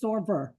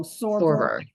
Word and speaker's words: SorVerr: I think it's SorVerr, like Fiverr. So SorVerr, SorVerr.